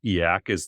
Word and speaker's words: e/acc: Um I would I would not consider myself e/acc.